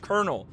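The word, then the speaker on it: colonel: right colel that's why why you typing colal when it's pronounced konel why don't you just type it konel it's so dumb I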